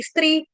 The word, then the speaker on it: स्त्री: तम, तमोद्वारई स्त्री, तमोद्वारई स्त्री, स्त्री, स्त्री, छोटी की मात्रा स्त्री।